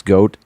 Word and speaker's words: godt: Leg, spelled like leg, L-E-G, and then the other word is goat, G-O-D-T, which translates to play well.